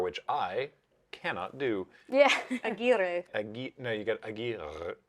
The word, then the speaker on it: Aguirre: I've previously heard, because there's been real people with that name, and I've heard their name pronounced Aguirre, which is why I very confidently said that the name was pronounced Aguirre, because I heard it somewhere else, but apparently They were Aguirre misinformed. with a rolled R, which I cannot do.